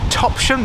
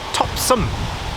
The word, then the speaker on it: Topsham: live in the town call it Topsham, as in some rather than shum.